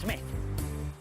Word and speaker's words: Smythe: me for Mr Kennington Smythe pronounced Smith well there's not much